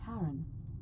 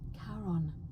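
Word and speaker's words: Charon: it's just as you described it only your pronunciation is a little off the name you heard wasn't Karen it was c h a r o n as in karon the Fairman of the Dead karon who in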